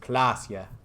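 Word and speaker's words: Klaasje: Klasia is pronounced Klasia.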